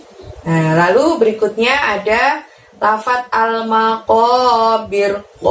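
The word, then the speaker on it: المقابر: Nah, lalu berikutnya ada lafadz al-maqabir. Ko-nya di situ pakai qof, diucapkan dari pangkal lidah hingga menyentuh langit-langit. Ko-nya panjangnya juga 2 ya.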